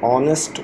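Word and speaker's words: honest: बॉय ऑनेस्ट नरे बल जो भी एच के साथ ओ आ जाए वल आ जाता है तो हम एच साइलेंट हो जाता है आवाज अलिफ की निकलती है शी इज स्कीवी शी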